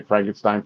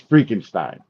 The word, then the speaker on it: Freakenstein: And like so many people get the name wrong. You know how many times I've heard people say Frankenstein, Frankenstein, Frankenstein? It's like it's Freakenstein, Freakenstein.